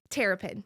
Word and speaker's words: Terrapin: And how do you pronounce your last name? Terrapin.